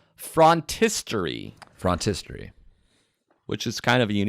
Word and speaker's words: phrontistery: with number 1, which is called frontistery, Frontistery. which is kind of a unique word. It's spelled Phrontistery, frontistery.